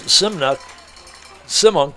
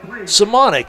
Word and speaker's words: Simonic: Rolling right, looking down, short pass over the head of Chris Simunk, I'm sorry. So Paulson off the mark. Simonic, there we go, that's the correct pronunciation.